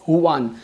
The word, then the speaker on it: Juan: as Huan, so Huan, you might spell your name as Juan, but it is pronounced as Huan.